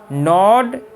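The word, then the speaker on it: gnaw: ऑल at once the mice नॉड एट the ropes, ये जो word है इसमें जी जो है ये साइलेंट है, इसको नहीं पढ़ेंगे, इसको नो का मतलब होता है कुतरना।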